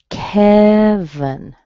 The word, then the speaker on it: Kevin: Kevin. Okay, strong on the ke, a little schwa at the end, and weak.